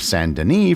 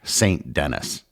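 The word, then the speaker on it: Saint-Denis: And for the record, I will be using the French pronunciation of Sanden for the rest of the episode, not the English St. Dennis.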